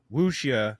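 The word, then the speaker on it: wuxia: Kung Fu and woia woia which rhymes with Lugia that's what I keep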